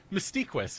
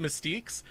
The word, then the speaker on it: Mystiquis: some hate for it, but Mystiquis, man, that it's his name. It's the way he's pronounced it on the Gamepedia. I don't know if you guys actually check the Gamepedias, but like someone pronounced it Mystiques, and he actually went onto the page to make sure it was said correctly.